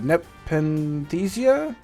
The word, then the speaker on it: Nepenthesia: So this is uh Nepenthesia.